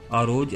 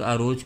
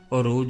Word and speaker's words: عروج: کا نام رکھا گیا۔ ترک عروج کا صحیح تلفظ نہیں کر سکتے، وہ اسے عروج بولتے ہیں۔ عروج اور خیر الدین